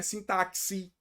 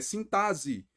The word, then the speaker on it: sintaxe: se fala mesmo ok Não é sintaxe é sintase então aqui nós não temos um dfan beleza é importante a gente falar isso não é a mesma pronúncia que taxi é sintase quando a gente fala